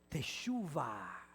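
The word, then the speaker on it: תשובה: Ahora, en hebreo, el lenguaje que hablaba Jesús, la palabra arrepentimiento se pronuncia así, tesuva.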